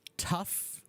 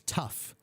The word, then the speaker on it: tough: The words you want, Romulo, are tough. The first word is tough, tough, tough. Okay, so the GH in that word is actually an F sound, tough.